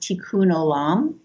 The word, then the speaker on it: tikkun olam: there's a phrase in hebrew uh that that's pronounced tikkun olam which stands for heal the world and my